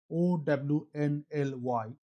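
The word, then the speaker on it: Ownly: In August 2025, Rapido launched only which pronounced as Own Ny in Bengaluru with a business model so simple it's actually genius.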